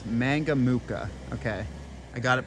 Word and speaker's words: Mangamuka: name of the town I've been trying to pronounce mangamuka okay I got it pronounced correctly um so